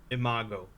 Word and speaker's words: Imago: right my first exploring series video SCP 3004 Imago oh I did okay it is pronounced like thato is a Latin word meaning